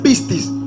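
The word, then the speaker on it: πίστις: cuenta que la palabra fe en griego se pronuncia pistis, que significa título, documento y papel legal.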